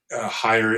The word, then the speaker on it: Heyer: Again, if you're not watching this video, if you're listening to it, Higher is my last name, and it's spelled Heyer.